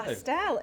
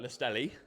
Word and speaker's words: Lastelle: Lastelle, you got it right though. Okay, what? Go on, give us an example. We had like Lastelli, Oh, okay.